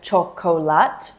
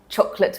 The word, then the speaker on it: chocolate: So no one actually says chocolate. We drop the O. For example, I love chocolate milkshake, or I could really eat a chocolate bar right now.